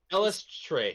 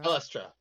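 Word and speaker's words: Eilistraee: Elistre. No. A follower of Saluna. Elistra. Probably Elistra.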